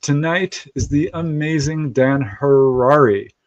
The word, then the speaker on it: Harary: If you haven't figured it out, our guest tonight is the amazing Dan Harrari. Rhymes with Ferrari.